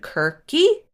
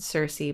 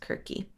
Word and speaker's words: Circe: So some other Greek witches from mythology include Kirke, which is spelled Circe, but not like Game of Thrones. It seems like it should be read Circe, but apparently it is pronounced Kirke. Or it could be Kirke or Kirke. I'm not sure. It's one of those.